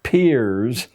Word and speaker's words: Peirce: It's pronounced Peirce, but it's spelled as if it were Peirce.